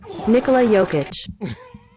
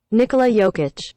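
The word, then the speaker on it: Nikola Jokić: bit of a discrepancy this is how you pronounce the MVP's name Nikolai yic Nikolai yic Nikolai yic Nikolai yic so it's like Nikolai volov from the WWF if you remember the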